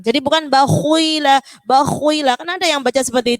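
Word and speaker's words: بَخِلَ: Jadi jangan bacanya bakhila. Khok kan huruf tebal Ustazah. Bakhila, nggak boleh gitu. Jadi ketika huruf tebal, kalau dia harokatnya kasroh, ketebalannya berkurang. Cukup bakhila, tetap tebal tapi dia berkurang.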